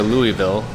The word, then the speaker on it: Louisville: Okay, so right now we're near Louisville, correct? Louisville, yeah. Right outside of Littleville. Louisville. I just said Louisville. Yeah, it is Louisville.